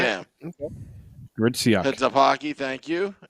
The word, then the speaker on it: Gritsyuk: It's pronounced Gritsyuk. Gritsyuk. Yeah. All right. Yeah. Okay. Gritsyuk.